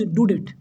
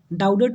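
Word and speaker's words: Daudet: ठीक, तो राइटर का नाम याद रखिएगा, अल्फोंस डुडेट। डाउडेट नहीं पढ़िएगा, इसका प्रोनाउंसिएशन क्या होता है, डुडेट।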